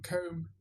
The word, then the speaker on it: comb: So you still find students way up in intermediate who want to put a B on comb, or lamb or lamp for the meat.